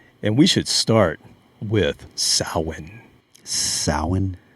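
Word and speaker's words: Samhain: we should start with sa sa that's how you pronounce it in Gaelic oh Irish gelic and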